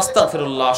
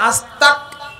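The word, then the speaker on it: أستغفر الله: একটু ভুল হয়ে যায় আস্তাগ, এখানে গইন দিয়ে, যেটা বাংলায় গড় উচ্চারণ, কিন্তু অনেকে কয় আস্তাক।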